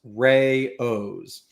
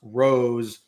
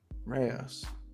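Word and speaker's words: Rao's: The pasta, according to AI, the pasta sauce brand AOS is pronounced rayos. It's not pronounced rose or rouse. Ryos.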